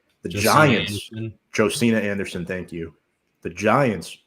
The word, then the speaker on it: Josina: According to Josina Jo Anderson, can't pronounce her first name. The Giants, Josina Anderson, thank you.